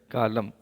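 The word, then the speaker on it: column: सब कॉलम कहलाते हैं सी ओ एल यू एम और एन कॉलम एन साइलेंट होता है ठीक है तो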